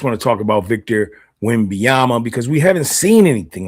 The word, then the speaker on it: Wembanyama: Is that how you pronounce that? Wembanyama, that's how you pronounce it.